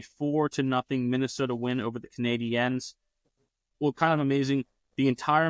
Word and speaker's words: Canadiens: Well, Canadiens, you would have to go with, because that's the French pronunciation.